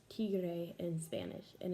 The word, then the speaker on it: tigre: So an example of that would be the word tiger in English is pronounced tigre in Spanish, and it's also spelled very similar.